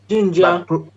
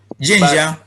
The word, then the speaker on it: Zhenjiang: How do you pronounce it? Zhenjiang. Zhenjiang.